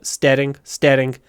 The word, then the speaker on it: staring: Второй интересный момент, когда надо произносить Р, в русском языке говорят, конечно, staring. Надо делать двойной звук.